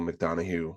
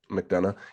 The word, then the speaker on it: McDonough: I think that Neil McDonough, right? That's how you pronounce his name. I think McDonough.